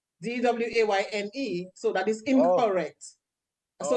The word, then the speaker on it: Dwain: Dwaine. So that is incorrect. So it's Dwain. That's how Dwain is spelled.